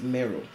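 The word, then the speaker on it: Meroë: at another Nubian Kingdom merui also sometimes pronounced Mero Napata the capital city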